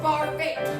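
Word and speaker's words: Barfée: It's pronounced Barbie.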